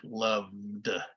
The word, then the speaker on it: loved: Okay, if it is a voiced consonant like love, you make it sound like loved with a D.